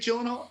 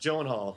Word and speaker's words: Gyllenhaal: I'd be did you see that beard on Jake Gyllenhaal?